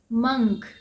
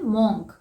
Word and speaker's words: monk: Next word है मंक। MONK। इसे हम क्या बोलते हैं? मॉन्क, लेकिन इसका सही प्रोनाउंसिएशन है मंक। जिसे साधु या सन्यासी आप कह सकते हैं, उसे हम कहते हैं मंक।